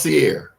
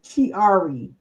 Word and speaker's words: Chiari: So it's not pronounced Sierra. No, it's Chiari.